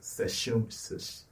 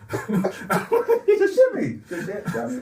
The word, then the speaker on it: sashimi: Sashimi. No, it's Sashimi. There's no shit in it.